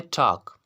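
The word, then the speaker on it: talk: Then आपके पास है टॉक, टॉक means बात करना, टॉक। यहाँ पर भी किया है, के से पहले एल आ रहा है तो वर्ड एल जो होगा आपके पास साइलेंट होगा।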